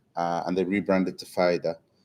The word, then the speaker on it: Pfida: Uh and they rebranded to FIDA with a silent P, I must add, right?